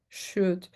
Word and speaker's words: should: So that is the secret of would, should, and could. We don't pronounce the L.